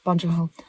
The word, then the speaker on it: Bong Joon-ho: Is that how you say his name? Yes, Bong Joon-ho.